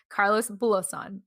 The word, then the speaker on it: Carlos Bulosan: the story about carlos um oh my gosh carlos belosan am i pronouncing right okay cool cool carlos bulosan all right and i vaguely vaguely remember because